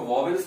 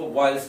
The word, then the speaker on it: vowels: अक्सर लोग इसको वॉवेल्स बोलते हैं, लेकिन इसमें जो डब्ल्यू है वो साइलेंट है, इसको वॉयल्स पढ़ा जाता है।